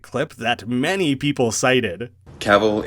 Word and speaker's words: Cavill: that many people cited Cavill is pronounced like travel travel travel maybe that